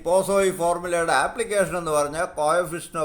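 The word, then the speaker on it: Poiseuille: എഴുതുന്നത് പോയിസ്വെല്ലി, പലരും പോയിസ്വെല്ലി എന്നാണ് ഇത് വായിക്കുന്നത്. അതിൻ്റെ ശരിയായ ഉച്ചാരണം പോസോയി ഫോർമുല എന്നാണ്.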